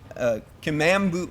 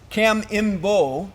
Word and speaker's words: Kamimbo: enemy landing force in Kamambu, I'm not saying it right, Kamimbo Bay, and they actually sank the Japanese submarine I-3 with their torpedoes.